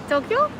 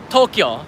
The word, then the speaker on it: Tokyo: it's really set pronounced Tokyo Tokyo Tokyo yeah two syllables there you go so here list your